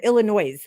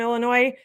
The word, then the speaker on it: Illinois: if anybody who said Illinois and he was like I don't know what's what do you New Yorkers the S is silent you know but people here always say Illinois like that's how you